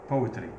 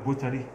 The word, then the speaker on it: poetry: بويتري بويتري، والشاعر اسمه بويت، والقصيده اسمها بويم. يعني في ناس بيقول لك بوتري ولا بويتري، لا، اضغط على الباء، بويتري، والشاعر اسمه بويت، والقصيده اسمها بويم.